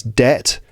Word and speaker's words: debt: be in what it's debt to have debt or to to to be in debt and that b is silent right to be in